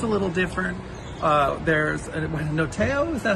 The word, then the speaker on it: notaio: There's a noteo, is that how you say it in Italian? Notaio?